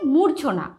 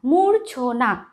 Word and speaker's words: মূর্ছনা: তারপরে আছে মূর্ছনা, ময় দীর্ঘ ছয় রেফ দন্তন নয় আকার, মূর্ছনা। মাঝে কিন্তু রয়ের উচ্চারণটা অবশ্যই অবশ্যই আসবে, না হলে কিন্তু উচ্চারণটা ভুল হবে। ঠিক আছে, মূর্ছা, মূর্ছনা।